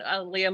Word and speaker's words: Aaliyah: was always concerned that people would only associate it with the R&B singer so which coincidentally is actually the easiest way for me to explain to people how to say her name so but that's I